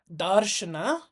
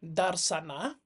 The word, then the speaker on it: Darśana: view you can say the s you see at top over there is pronounced as an sh so it is actually a darna not a darana um the same thing